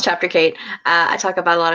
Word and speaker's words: Chapter Kate: There's a Roman numeral joke in there somewhere, but it's pronounced Chapter Kate.